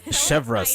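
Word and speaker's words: Chevreuse: voice of chevas yay oh my gosh I'm chevas that's how you say her name okay fair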